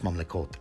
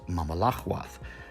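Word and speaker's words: ממלכות: that being Mamlaka, and the plural of Mamlaka is Mamlekot, but they pronounce Mamlekot as Mamalachwath.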